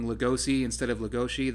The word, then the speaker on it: Legoshi: me to BEASTARS is Legoshi's character, and I'm just saying Legoshi instead of Legoshi. The Legoshi kind of comes from the Japanese pronunciation. I mean, technically it's Legoshi if we're pronouncing it in English.